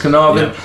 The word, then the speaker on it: Carnarvon: months, including, am I saying this right, Lord Carnarvon? Is that how you say it? Yes. Lord Carnarvon died shortly afterwards, and in actual fact, when